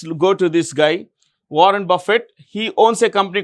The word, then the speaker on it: Buffett: Gates started Microsoft in 1975 okay now Warren Buffett how do you pronounce the name b u FF T is Buffett b a f i t Buffett Warren Buffett